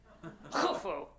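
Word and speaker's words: Khufu: the Great Pyramid ofu it's spelled like kufu but you had to say it with an accent and kind of roll your knees forward kuu this is the tallest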